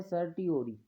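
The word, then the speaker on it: certiorari: कुछ बोल देता है, तो इसका जो प्रोनाउंसिएशन है वो इंग्लिश में है सर्टियोरी, सर्टियोरी।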